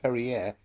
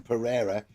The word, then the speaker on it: Pereira: I do like the way you called him Perrier when everyone else calls him Pereira. But Perrier is what the Wolves fans call him because it rhymes with derriere.